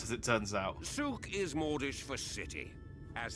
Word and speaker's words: souk: You know how you've been pronouncing it wrong for the last 10 minutes. Yeah, souk, souk, souk, souk.